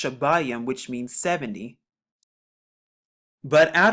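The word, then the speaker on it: שבעים: It's a cardinal number, and it's pronounced shabayim, which means 70.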